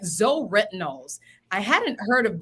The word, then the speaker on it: ZO: best on the market why is that yes Zeo is how the brand is pronounced and everybody calls it so stands for